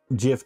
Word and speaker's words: GIF: It's GIF. That's the way the original creator of the file said it's supposed to be pronounced.